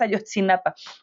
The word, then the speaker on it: Ayotzinapa: El otro día dije: ¿Yotzi quién? No, no, no, es Ayotzinapa.